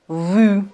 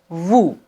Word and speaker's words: vous: nous vous nous vous on doit pas dire nu vu non nous vous mais j'ai deux questions